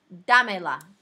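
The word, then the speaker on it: dámela: Dame la. Dame la. You still accent the third to last syllable.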